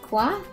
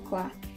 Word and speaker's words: quoi: The informal way to say what is quoi.